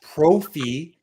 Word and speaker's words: Profi: Profi, which rhymes with trophy, musically obsessed.